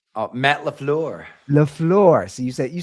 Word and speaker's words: LaFleur: in is our boy I always butcher LaFleur. I always say it wrong. Matt LaFleur. LaFleur.